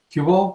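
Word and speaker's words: Qubole: So you said you worked at companies here in the Valley, and I noticed that you worked at Cubal, or I think it's pronounced Cubal. Yeah, Cubal, that's right.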